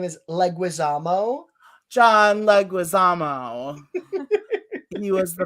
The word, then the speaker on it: Leguizamo: it was scary my favorite actor is john linguazimo did i just pronounce his last name wrong like was jim the correct pronunciation of his name is leguizamo john leguizamo he was the villain in it